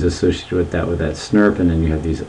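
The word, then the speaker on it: snRNP: an uh made up of these things called snurps this is how we pronounce this as snurp and this sn rna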